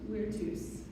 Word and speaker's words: virtus: The Latin word for courage is spelled virtus, but because in classical Latin V sounds like W, the word is pronounced virtus.